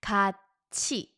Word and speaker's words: 같이: So this assimilation is where to doesn't carry over. Although it starts with a silent character, you don't say 같이, it's a ch next door. Exception to this rule, 같이, 같이.